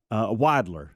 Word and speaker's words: Widler: And so I said, I text Speedy, and I said, Speedy, do you know Bill Wilder? Mm-hmm. Widler is how you say his name.